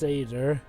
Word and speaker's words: satyr: pan must choose his own fate it's actually pronounced sader okay moving on you go from gris summer